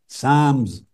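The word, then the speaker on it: Psalms: इसमें एक बाब है साम लिखने में पी एस ए एल एम एस लिखते हैं मगर पी और एल दोनों साइलेंट होते हैं साम्स यह मुनाजात का चैप्टर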